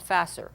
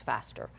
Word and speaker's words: faster: went faster and faster he's got an S before it but it's not faster it's faster again there's always these nasty